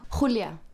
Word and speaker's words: Julia: Do I pronounce it right? Yeah, Julia.